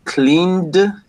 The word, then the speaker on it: cleaned: No, it's d, t, id. Right? It's going to be cleaned, worked, wanted.